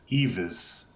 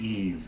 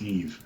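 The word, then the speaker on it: Yves: name put this up to the camera as Eva's but it is Eve you these simpletons her name is Eve because so the the cosmology of the Luna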